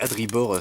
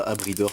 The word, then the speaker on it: Adribor: c'est Adribor, c'est pas Abridor, pardon, je le prononce mal depuis le début, je crois.